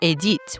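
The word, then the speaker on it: Édith: Baby Edith or Adit when pronounced in French came into the world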